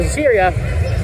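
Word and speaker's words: Zierer: Not to be confused with the park's Cheetah coaster, but it's spelled Z-I-E-R-A, so Ziria Rides.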